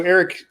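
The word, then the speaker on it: Arik: So Eric Soon, which is spelled with an A-R-I-K, is played by Brent Spiner, as we know.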